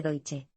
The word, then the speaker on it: Deutsche: estadounidense estos pistoleros financieros tuvieron que ser entrenados para pronunciar correctamente doiiche Aparentemente le habían estado diciendo a la gente que trabajaban en deutsche Bank los estadounidenses también inculcaron